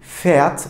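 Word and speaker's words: Pferd: Peki P ve F harflerini yan yana gördüğümde arkadaşlar bu sert bir pf pf şeklinde telaffuz ediliyor. Fiat örneğinden evet burada F'yi birazcık daha çok az bir sertlikte telaffuz etmiş oluyoruz.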